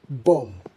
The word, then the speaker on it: bomb: to pronounce this is bomb. Bomb. Now, why bomb? Well, the B at the end is silent, aligning with similar words you might have come across like comb and climb.